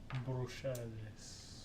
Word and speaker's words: Bruxelles: Yeah, well, that one would be French. Bruxelles.